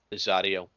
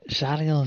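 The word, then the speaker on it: Zariel: so the the letters and the infernal runes spell it a name uh zarel can we go wake can we go wake up again and tell that uh zarel zarel zarel that's one of the sub rers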